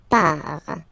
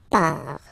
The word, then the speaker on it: pars: So the first form is je pars. So final S not pronounced. Je pars.